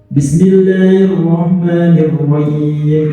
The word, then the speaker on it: Bismillahirrahmanirrahim: Kemudian yang harus kita perhatikan dulu yang kita baca benar-benar tipis. Roh. Jangan sampai kita membacanya menjadi huruf kho, misalnya roh. Atau kita membacanya hilang huruf h-nya. Bismillahirrahmanirrahim. Bismillahirrahmanirrahim. Karena sadar atau tidak sadar, sering kali kita kadang-kadang membaca huruf H, kita hilangkan hurufnya.